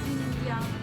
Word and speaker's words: Xinjiang: Bu, kalau boleh tahu nih sebelum saya pesan menu yang spesial ini, dibacanya yang benernya gimana sih? Xinjiang Xinjiang, gimana yang benernya gimana? Xinjiang.